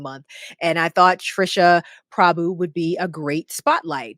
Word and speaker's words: Prabhu: I want to make sure I'm pronouncing her name right, but it's Trisha Prabhu. Prabhu, yes. Okay.